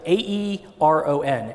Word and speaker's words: Aeron: have but you don't what how do you spell it a-e-r-o-n Aeron um Herman Miller is the company that